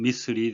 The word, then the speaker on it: missile: 미사일, 영국 영어와 미국 영어 같은 점이 더 많고 다른 점이 약간 있는데 다른 점에 해당되겠습니다. 미국식 발음은 미슬이 되겠습니다.